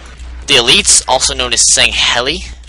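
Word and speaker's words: Sangheili: elites also known as saying heli I've I've always pronounced it that I don't know how else you can pronounce it but it's s a n g h e l i saying Hell e feel like there's another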